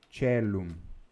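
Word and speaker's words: caelum: Então veja, tanto esse ditongo, AE, quanto o ditongo OE, é pronunciado com o som do E, cellum, tá? E porque ele é pronunciado com o som do E, então o C fica TCH, tá?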